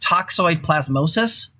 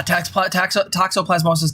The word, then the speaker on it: toxoplasmosis: compared it to um i believe it's pronounced toxoid plasmosis the disease that you get from cats that like makes you a cat servator and that seems to reinforce gender norms the yeah toxoplasmosis gandhi thank you they basically kind of